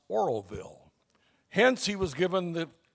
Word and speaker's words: Oroville: the announcer on the video kept calling it Orville o r v i l l e California so Jim was recruited to take the script to khsl TV and re-record it knowing how to pronounce Oroville hence he was given